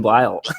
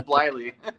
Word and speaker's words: Bleyle: But yeah, Devan Bleyle. Or is that even how you say it? No, man, it's not. Bleyle? It's Bleyle. Bleyle Elevators.